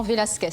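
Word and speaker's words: Velázquez: Velasquez, ou autrement Velasquez en français, à prononciation française. Donc, votre réponse? Velasquez, prononcé à l'espagnol, Velasquez.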